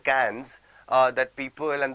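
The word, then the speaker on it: faux pas: your next word आपके सामने जो है इट्स पापा व्हाट इस पापा पापा इस अन सोशल ब्लेंडर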